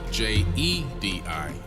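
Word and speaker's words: Djedi: in ancient KET and they're spelled d j e d i Jed and they're pronounced Jedi and he took that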